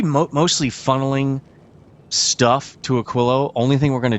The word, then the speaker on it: Aquilo: I keep want to say a quio because that's how you say it in Spanish and it looks like a Spanish word. just doesn't have two L's.